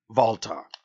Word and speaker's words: Walter: They pronounce it like the German and Walter. Walter.